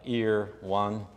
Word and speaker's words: Irwan: best friend in Australia irwan yes it's an Indonesian name it sounds like ear one ear one that's the way he tells people how to pronounce his name um when I got